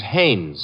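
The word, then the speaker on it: Haines: Hines used to fish out no no not Hines hannes couldn't be Huntingburg no it couldn't be the name is hannes h a i n Hanes give me your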